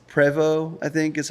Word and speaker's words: Prevost: incorrect way yeah like it's actually like it's like French it's preo I think is how it's supposed to be said but like Prost is how we say